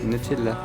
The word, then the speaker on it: Nutella: C'est comme ça qu'on le prononce, Nutella.